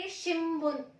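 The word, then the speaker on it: しんぶん: क्योंकि जब भी हम हिरागाना में न लिखते हैं और जब भी ब प या म की साउंड आती है तो हम वहां पे एन की साउंड म देते हैं। तो इसको हम प्रोनाउंस करेंगे शिम्बुन शिम्बुन।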